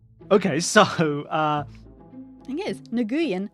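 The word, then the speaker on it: Nguyen: Vietnamese American who says no no it's pronounced nguan oh yeah for sure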